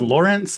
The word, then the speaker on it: Lorinc: And it's Lawrence. I've been mispronouncing it this whole time. Yeah, well, you know, people say it both ways. My dad says it both ways. It should be Lawrence. It's not spelled that way.